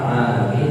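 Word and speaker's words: العالمين: Di Quran alamin pakai ain, artinya alam itu kullu ma siwallah, semua yang selain Allah disebut alam. Kalau alam artinya orang sakit.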